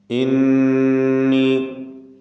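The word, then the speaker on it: إِنِّي: ഇന്നി, നൂൻ മുശദ്ദദ മണിച്ചുകൊണ്ട് ഉച്ചരിക്കുക. ഖദ് ജാഅനി, ഖാഫിന് തഫ്ഖീം കൊടുത്ത് ഉച്ചരിക്കുക.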